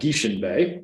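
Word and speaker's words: Guichen Bay: Robe, which is called Gieschen Bay. That's how you pronounce that funny little word there.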